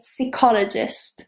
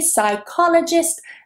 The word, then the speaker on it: psychologist: For example, I'm a psychologist, but it's not C, it is psi. That beginning, PSY, is always psi in English. Psychology, psychotherapist, psychotherapy, psychologist, they're all with psi.